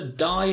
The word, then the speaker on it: dye: My sister used to dye her hair blonde. Now, D-Y-E, dye and dye are pronounced in exactly the same way.